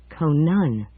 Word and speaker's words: Conan: Conan, with the accent on the second syllable.